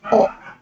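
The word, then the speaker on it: を: Plus, this is, if the wo is used as particle, it is pronounced as o.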